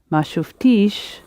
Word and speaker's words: ما شفتيش: And the long E is how you can tell the difference between enter and nt. Ma shuftish would be talking to a woman, didn't you see? But talking to a man, you have the little